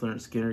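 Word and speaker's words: Lynyrd Skynyrd: Their pronounced Leonard Skinner came out this year.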